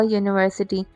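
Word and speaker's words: university: Dash यूनिवर्सिटी अ यूनिवर्सिटी।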